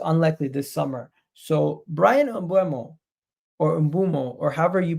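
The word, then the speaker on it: Mbeumo: name briano briano UMO it's UMO it's not UMO it's UMO I I am so bad at pronouncing his names I know you guys are gonna be putting laughing emojis in the chat of how I'm pronouncing his name if somebody can please break down how to announce pronounce his name properly is it it's IMO it's Brian IMO uh I'm so bad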